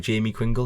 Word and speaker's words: Jamie Quingle: Jamie Quingle, is that right? Yes, Isle of Man lad.